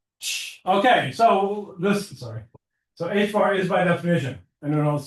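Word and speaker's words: ħ: H bar. I know you pronounce this H bar.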